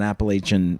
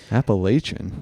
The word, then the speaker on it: Appalachian: Because there's a divide. It's, more northern, you tend to say Appalachian. Oh, really? Southern, you tend to say more Appalachian.